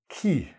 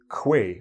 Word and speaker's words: quay: Key. It looks like way, but it looks like this a little bit. We actually pronounce this word key.